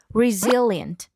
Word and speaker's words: resilient: So today's word is resilient. Stress on the second syllable.